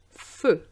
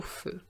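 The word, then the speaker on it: feux: But it doesn't affect the pronunciation. Aller jusqu'au feu.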